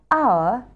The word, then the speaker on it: hour: The words that begin with a silent "h" that are used most often are "hour", "honest", "honour".